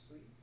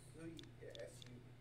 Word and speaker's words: Sui: Or you can call him Sui. Spell it? Sui, S-U-I. Or Suido, S-U-I-D-O-U. S-U-I? Yep. Means water, right? Mm-hmm. Well, it's the Onyomi for water. What is it? Onyomi is its Chinese reading for water.